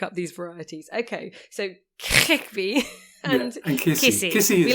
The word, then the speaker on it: Khikhvi: For ease, I say something like Khikhvi, but it's more like Khikhvi. Okay, well, let's say Qvevri. It's sort of, you sort of like clear your throat and then say it.